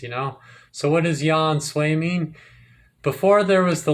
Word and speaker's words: Yahensue: English word ensue so ya and Sue are pronounced as one word Yan sway it's because people would